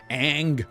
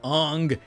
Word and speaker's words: Aang: and for no reason they changed the pronunciation aang ang avatar of atar but apparently the excuse was to be more respectful to how these cultures pronounce it wow nice hey you